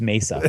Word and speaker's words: Mesa: hordes event going on in how do you pronounce Craig uh I don't know Mesa or Mesa oh it's Mesa yes I'm sure it is Mesa Arizona in